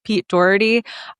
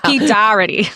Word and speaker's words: Doherty: First of all, I want to say that the way you pronounce Pete Doherty, you sounded like one of my New England aunts. Pete Doherty.